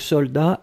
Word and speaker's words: soldat: Je regarde, vous l'avez bien écrit, attention save the best, soldat avec un T final, on ne prononce pas le T, mais logiquement il devrait être là, d'accord? Donc soldat, S-O-L-D-A-T.